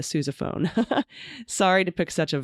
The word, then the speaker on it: sousaphone: I wanted to report the OU in Sousa is pronounced like you, like Suze. Okay, Sousa. Same goes for the eponymous wearable tuba, the sousaphone.